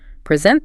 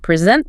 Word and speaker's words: present: Record the verb. Present the noun. Present the verb. And object the noun. Object the verb.